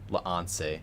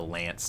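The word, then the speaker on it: L'Anse: Bro, there's no way Lance is pronounced Lance. There's no way. I was taught it was one syllable.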